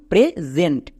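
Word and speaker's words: present: এস এর দুপাশে যদি দুটো ভাওয়েল থাকে তাহলে এস বর্গীয় জ উচ্চারণ নেই। মনে থাকবে? এখানে দেখো এস এর একপাশে ই ভাল আরেক পাশে আরেকটা ই ভাল। দুটো ভাল দুপাশে আছে। তার মানে এসটা এখানে বর্গীয় য উচ্চারণ দেবে। যেমন প্রেজেন্ট একই রকমভাবে আরো একটি ওয়ার্ড দেখো।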